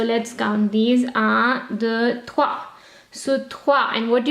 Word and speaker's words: trois: But O-I is oua. Soir, yes, we did in bonsoir. Okay, O-I is oua. And the S at the end will not be pronounced. So, trois.